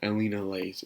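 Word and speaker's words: Elinalise: scene one of my personal favorites inter scene Elena Lays you cannot believe how long it took me to actually say her name right you could not believe but yeah Alina lace is here baby she heard the word rudiest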